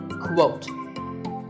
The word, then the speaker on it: quote: is with a cuff sound at the beginning quote similarly we have the quotation and quotation marks